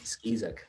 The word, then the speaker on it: Skeesuck: Skis is that right pretty close skis pronounce with a z skis yes it's it's a